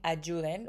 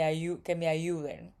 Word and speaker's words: ayuden: Even the Y in ayuden, we pronounce it a little bit more. You know, in Mexico we say que me ayuden, but he says que me ayuden.